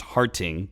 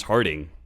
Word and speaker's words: Harting: his name was james harting and he kept pronouncing it with like a hard t instead of d and uh was